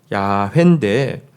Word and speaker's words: 야훼: 이 발음은 정확한 발음은 야훼에 가까웠을 것이라고 학자들은 이야기합니다. 야훼인데 근데 야훼라는 단어를 여기